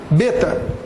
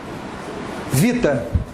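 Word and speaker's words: βήτα: No grego bíblico, a gente fala assim. Beta. Você sabe como é que é no grego moderno? Olha a pronúncia. Se escreve da mesma forma. A pronúncia. Vita. Não existe mais som de B no grego. Brasil é Brasília. Eles não pronunciam B, porque o beta virou V.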